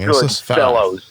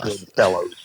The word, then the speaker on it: Goodfellas: Goodfellas. Fella. Jesus Christ, I don't work in a fucking university. Fella. Goodfellas.